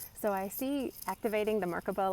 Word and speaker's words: Merkabah: recommend that um so activate your mark above or markaba depending on how you say it I say it Merkabah so you know phonetics mark the way I talk so anyway doing